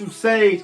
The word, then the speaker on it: TvuSage: TvuSage, and yes, it's always it's pronounced TvuSage.